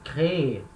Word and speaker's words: créer: A última sílaba é forte, então eu tenho que falar ela, créer.